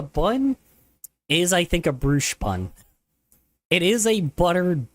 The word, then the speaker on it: brioche: The Brioche bun, is not. So, Pronounced like that. Bruche? I will fight you, LOL. Sorry, brioche.